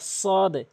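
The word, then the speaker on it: ص: এরপরে হচ্ছে সদ। সদ সদ। এভাবে উচ্চারণ করবেন সদ অর্থাৎ জিহ্বার আগাটা উপরে নিচে দুই দাতের আঘাতে লাগাতে হবে সদ দাল দাল লাম লাম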